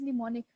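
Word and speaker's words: mnemonic: करना okay व्ट इज निमोनिक इसमें जो एम है वो इनिशियल वाला य एम जो है व साइलेंट है निमोनिक आल्सो नोन एस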